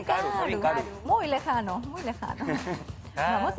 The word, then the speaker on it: karu: Karu. Taru. Karu, con K. Karu. K. Karu. Ajá, Karu. Karu. Karu, Karu. Karu y Karu. ¿Ah? Esa misma expresión se utiliza. Karu y Karu.